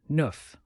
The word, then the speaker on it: neuf: Now, number 9, neuf, which sounds like nerf. It's like nerf with a French accent.